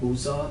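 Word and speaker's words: Busza: She was born in a small town called Buza. It's spelled B-U-S-Z-A.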